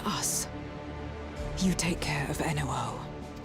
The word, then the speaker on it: Enuo: You take care of Enuo. Enuo, okay, that's how you pronounce it. Not Yuno. Yuno.